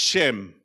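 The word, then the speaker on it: שֵׁם: It's pronounced Shem.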